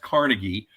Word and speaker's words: Carnegie: going to see various Homes and Gardens the Carnegie Museum um which is as good as any Smithsonian you will have ever been to it's actually pronounced Carnegie um if you want to be exact about